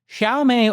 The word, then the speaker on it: Xiaomi: Xiaomé Auto.